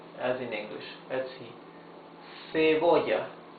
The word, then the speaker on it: cebolla: Cebolla. Cebolla. Cebolla means onion. You see, it's the soft sound.